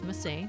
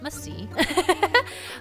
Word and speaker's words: Masae: My name is Masay, not Masee. Although I do like the C, it's not Masee.